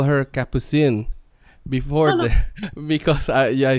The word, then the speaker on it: Capucine: not to call her capucine before i say you know in italian no one knows how to say my name so everyone tells me capucino since i'm a child